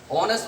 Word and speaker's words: honest: আমি তোমাদেরকে সেই বিষয়টা যদি এখানে উদাহরণস্বরূপ দেখাতে চাই তাহলে দেখো, আমি এখানে কিন্তু ওই অনেস্ট ওয়ার্ডটা কিন্তু এখানে বাহুল সাউন্ডের মতো উচ্চারণ হয়েছে, কিন্তু এটা তোমাদের বুঝতে হবে কিভাবে বাহুল সাউন্ডের মতো।